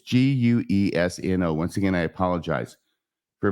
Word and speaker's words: Guesno: or wesno Marty it's g-u-e-s-n-o once again I apologize for my bad pronunciation I will pronounce as guesno Marty in the conversation Janet